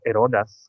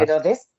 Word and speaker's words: Herodes: Todo esto podía pasar en Judea y en aquel momento el rey de Judea era Herodas, ¿cómo se dice? Rey Herodas. Herodes, Ah, Herodes. el rey Herodes, vale, porque nosotros en italiano decimos Herodes.